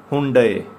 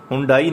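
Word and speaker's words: Hyundai: आगे ये हुंडे, हुंडे, हुंडाई नहीं कहना इसको, ठीक है ना, हुंडे कंपनी का नेम है ये भी, ठीक है ना, हुंडे।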